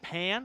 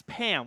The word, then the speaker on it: Pam: You're saying Pan or Pam? Saying it's Pam with just an M. The N is silent.